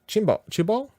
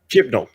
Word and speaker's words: Chibnall: It's directed by Jamie Childs and written by Chris Chibol? Do you say Chibol? I suppose that's how you say it, right? We better get this right for the future. There's an N. Okay. Chimlo. Okay. Chibnall.